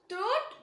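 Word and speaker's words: تاء: தா நம்ம நாக்கோட நுனி இருக்குல்ல, அது மேல் வரிசையில் இருக்க நடு பற்களோட ஈர டச் பண்ணும்போது உச்சரிக்கக்கூடிய லெட்டர் தா. தா.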